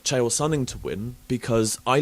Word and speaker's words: Chael Sonnen: Sale Chunning? You mean Chael Sonnen?